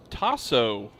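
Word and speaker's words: Tahso: Tasso Foster, as it's pronounced.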